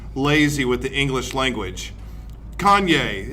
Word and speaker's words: Kanye: with the English language Kanye it's only two syllables yay you just sound